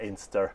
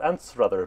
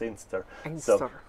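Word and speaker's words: Anstruther: yeah and um and an aner um which is some people will call it an rather because that's how it's spelled but I think the local people that's how they they would say it as aner it's uh yeah things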